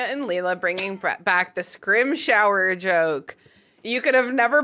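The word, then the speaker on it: Scrimgeour: Scrim shower is a close approximation. Scrimger. That's solid. I can't do it. Scrim shower. The trick is to say scrim and then just like Britishly grunt.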